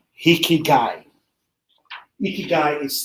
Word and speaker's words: ikigai: two is the japanese what called hiki guy ikigai is spelt iki that is reason or purpose of